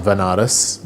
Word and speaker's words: Banaras: So I ended up going to Banaras, which is a place in India, sometimes pronounced as Vanaras, which is a place